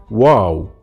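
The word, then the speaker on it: واو: the half circle again wow is very simple it's just same as the w sound in english so for example how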